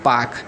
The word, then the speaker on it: पाक: यह वाला जो जल संधि है देखिए यहाँ पर लिखा भी है पाक। अब यहाँ पर PALK है, तो यल को साइलेंट कर देते हैं तो पाक जल संधि पढ़ते हैं।